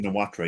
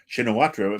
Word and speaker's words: Shinawatra: Shinawatra, yeah? Yes, Shinawat. Shinawatra, sorry. Shinawatra? You don't pronounce the RA? Okay, Shinawatra. Okay, thank you. I've been saying Shinawatra my entire life, so Shinawat.